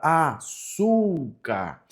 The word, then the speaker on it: açúcar: A palavra açúcar, nós temos a sílaba tônica no sul, não é verdade?